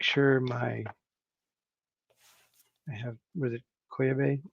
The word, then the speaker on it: Koyeb: I have, was it Koyabe? How do you pronounce that again? Koyeb.